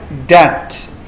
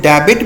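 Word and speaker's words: debt: बैड डेप्ट ये B silent है। इसको लोग डेबिट भी पढ़ते हैं। तो इसको डेबिट नहीं पढ़ना आपने। बैड डे पढ़ना है।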